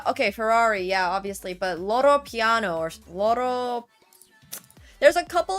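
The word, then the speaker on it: Loro Piana: I pronounce it Porsche. I don't know if that's right. Lamborghini is Italian. It is Loro Piano, okay.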